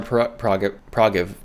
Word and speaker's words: prerogative: That's her prerogative. And that is the correct way to say that word. You say it wrong.